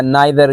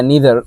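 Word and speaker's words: neither: मिसाल के तौर पर हमारे पास है ईच, और दूसरा है आइदर या ईदर, दोनों ठीक है, या नाइदर या नीदर, दोनों प्रोनाउंसिएशन ठीक है, ठीक है।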